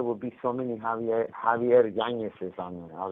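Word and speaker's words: Yáñez: So mine is pronounced with a little wiggle on top of the end, so it's pronounced YANEZ. Like Munoz, YANEZ.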